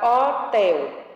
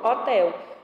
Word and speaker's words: hotel: No exemplo, a palavra hotel. É o H mais o O. Se eu tirar o H, fica o mesmo nome, hotel. Ou seja, realmente é uma letrinha sem som, sem valor fonético, tá?